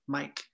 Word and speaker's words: mic: trước, Mike, nhưng mà nó đánh vần là M-I-C, là viết tắt cho microphone, ok? Bởi cái đó là đánh vần khác nhau, nhưng mà phát âm thì giống nhau, Mike.